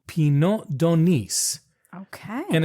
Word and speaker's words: d'Aunis: Actually, I'll just tell you, it's Pineau, and the d'Aunis is D'Aunis.